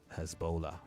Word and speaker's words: Hezbollah: um and it's hea Hezbollah Hezbollah not hea like you um you you